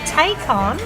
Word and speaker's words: Takon: And we're also joined with Takon, rhymes with bacon, she just told me.